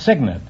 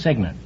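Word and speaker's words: cygnet: No, it's signant. It's spelled C Y G NE T, but it's pronounced signant.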